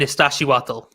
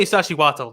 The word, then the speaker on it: Iztaccíhuatl: Well, let me try to get this pronunciation right. It's Popocatépetl and Iztaccíhuatl.